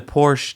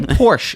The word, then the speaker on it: Porsche: the Porsche taken as taken it does not I pronounced it here's how you pronounce it Tyco